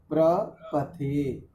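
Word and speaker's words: प्रपथे: बोल रहे हैं जो प्र पथे इस शब्द का उच्चारण आपका थोड़ा भिन्न जा रहा है प्र प्र पथे और रके नहीं है यहां पर श्रेष्ठा के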